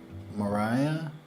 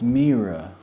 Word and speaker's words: Mira: Okay, Mariah is next. Mariah? Oh, Mira. Let me go back to Mira. Let me go back to... It's Mira. Pardon me for mispronouncing your name.